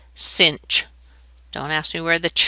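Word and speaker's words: sinh: then an H after it and it's actually pronounced cinch don't ask me where the CH comes from but this is pronounced cinch okay well what would this graph look like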